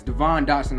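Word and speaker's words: Devon Dotson: the um devon well devon dodson devin dodson doesn't really matter it's devon dawson i know that's how it's truly pronounced but whatever devon dawson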